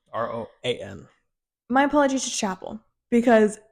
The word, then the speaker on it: Roan: It's Yeah. not Rowan. Rowan. Rowan. Rowan. Roan.